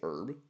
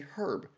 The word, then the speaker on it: herb: Like we say herb and the Brits say herb because there's a H in it.